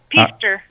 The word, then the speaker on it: Peaster: Peaster, Texas? Yes, Peaster.